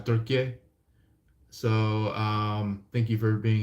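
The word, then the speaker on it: Türkiye: I think the new way of pronunciation of it is Turkey.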